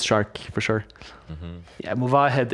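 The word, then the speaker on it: Movahed: Yeah, Muvahed is of course the correct pronunciation.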